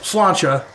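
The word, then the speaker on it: sláinte: it okay so the irish cheers in is pronounced slancha it means health if you're feeling brave how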